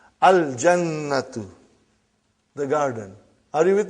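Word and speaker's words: الجنة: Brother, you will pronounce lam. Al-jannatu.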